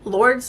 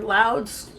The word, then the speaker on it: Lourdes: tickets to go to, how do they say it? Lords or Louds? Lords, I think is how they say it. When I read it as an American, it looks like the name Lourdes to me, because when